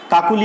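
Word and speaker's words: কাকলি: তাহলে মধ্য অ এর পরে ই বা উ ধ্বনি থাকলে সে অয়ের উচ্চারণ হবে ও এর মতো। যেমন কাকুলি একটি শব্দ রয়েছে, কাকুলি।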